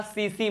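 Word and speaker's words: tsetse: मैंने कहा सीसी मक्खी। यहाँ पर टी क्या है? साइलेंट है।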